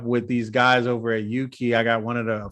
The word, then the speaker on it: UUKI: He's going to talk a little bit more about the tool, because I think people are still like, UUKI, what is that? You know, rhymes with Dookie.